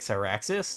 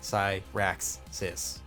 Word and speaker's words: Cyraxis: the syllables, you know, because I have like a 3-syllable name, like Cyraxis.